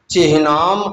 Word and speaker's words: चिह्नाम: न्यस्त चिह्नाम अपि, न्यस्त अलग होगा, चिह्नाम अलग होगा। थोड़ा ध्यान दें, लोग चिन्ह कहते हैं, चिन्ह शब्द अशुद्ध है, शुद्ध शब्द होता है चिन्ह।